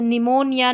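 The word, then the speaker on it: pneumonia: पीएन साथ में आता है तब भी पी साइलेंट रहता है। जैसे निमोनिया न्यूमैटिक में जो है पी हमारा यहां पर साइलेंट है।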